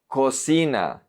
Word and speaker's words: cocina: Cocina, cocina, kitchen. Here we have the strong K, and then we have the CI, which is C, like an S. Cocina.